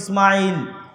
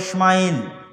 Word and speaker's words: ইসমাইল: আমরা সিন হালকা করে উচ্চারণ করে ইসমাইল। তারা বড় করে মোটা করে উচ্চারণ করে ইসমাইল।